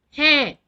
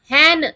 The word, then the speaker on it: है: Okay, அது எப்படி pronounce பண்ணணும்? ஹே சவுண்ட் வரணும். ஹே HAINனா ஹேன் அப்படின்னு சொல்லக்கூடாது. அந்த என் சவுண்ட் வரக்கூடாது. சவுண்ட் வரணும்.